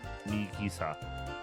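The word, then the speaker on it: ミキサー: The word mixer who when pronounced in Japanese sounds like Mikisa which of course contains Miki.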